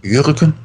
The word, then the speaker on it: Jürgen: Jürgen, weil das J wird ja hier wie ein Ch ausgesprochen. Und ein Ü danach und ein G nochmal wie ein Ch eigentlich.